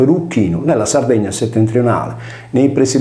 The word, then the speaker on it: Erycinum: Tolomeo individe al centro di Erucino, pronunciato Eruchino, nella Sardegna settentrionale, nei pressi di Erula, cittadina